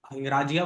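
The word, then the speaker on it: Hingrajia: मनन हिंगराजिया, हिंगराजिया बोलते हैं गुजरात में.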